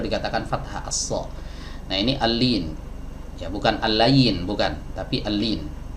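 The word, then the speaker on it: اللين: Ya, sebagian dari kita kadang ada yang membacanya al-layyin. Nah, ini kurang tepat ya. Yang benar al-lin, lamnya di kasroh, bukan di fathah.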